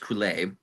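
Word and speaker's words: Coulais: The music is incredible, and the lyrics are gibberish, and they're gibberish on purpose because the composer, Bruno, I believe his last name is pronounced Coulet.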